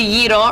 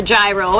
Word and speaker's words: gyro: also going to have the yle or the gyro as some people call it when they don't know how to pronounce it it has the cucumber